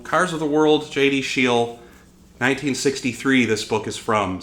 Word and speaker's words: Scheel: Cars of the World by JD Scheel, or Scheel, yeah, Scheel is probably how you pronounce that, JD Scheel.